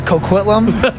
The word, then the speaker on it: Coquitlam: I'm going to butcher it uh yeah uh Coquitlam is how you say it um yeah no